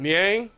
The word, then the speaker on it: Niang: Jordan Clarkson to Niang. However you say his name. Back to Clarkson. No, you actually got it right that time. Niang.